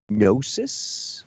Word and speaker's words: gnosis: Does he mean gnosis, like gnosis With a K? Is it spelled? Does it have a silent K at the beginning of it? No, it's GNOSIS. Oh. Gnosis.